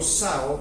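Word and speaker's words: ζάω: según el griego porque la palabra vida se pronuncia del griego Sao que significa vivir pero no vivir carnalmente sino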